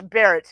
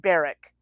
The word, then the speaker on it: Barrett: pronounce her last name it's barrett not barrick she lies about her